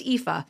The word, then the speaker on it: Aoife: So it's pronounced Aoife.